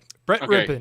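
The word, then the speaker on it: Brett Rypien: Yeah, Brett Rippin.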